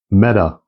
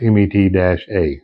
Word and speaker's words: METE: I'm not real sure how to pronounce it. That's what I got out of it was MET-A. So I don't know if that's a long A or a short A, but I'm going to say METE because it's easier for me to say.